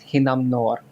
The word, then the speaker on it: Hinnamnor: area of expertise uh the typhoon's name is pronounced hinam noor that's your question which